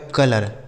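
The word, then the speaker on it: colour: तो इसका उच्चारण जो होगा बच्चों वह औ के रूप में हो जाएगा।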